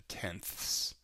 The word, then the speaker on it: tenths: the ones to the tenths to the hundreds to the thousandths you can kind of hear that I'm pronouncing it extra loud the THS at the end of each one of the decimal place